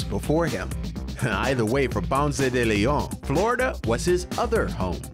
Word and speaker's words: Ponce de León: Either way, for Ponce de León, Florida was his other home, and ultimately his demise.